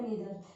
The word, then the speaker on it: neither: आइदर, नाइदर क्या होता है, आप इसको ऐसे भी प्रोनाउंस कर सकते हो, ईदर नीदर.